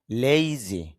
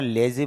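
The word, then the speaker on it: lazy: লেইজি। যদি আমরা লেজি বলে থাকি তবে শুদ্ধ উচ্চারণ হবে লেইজি।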